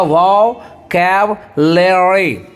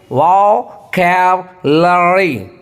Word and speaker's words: vocabulary: और एक चीज मैं यहाँ पे कहना चाहूंगा, VOCABULARY, उसको पढ़िएगा वोकैबुलरी, वोकैबुलरी, वोकैबुलरी।